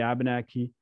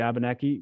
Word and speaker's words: W8banaki: language and especially abenaki we do pronounce all of the letters and often you will you will see why is there a nate in in your vocabulary but the eight is actually a nasal sound ah language literally means